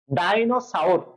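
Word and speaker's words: dinosaur: ডাইনোসাউর, কি বলছি?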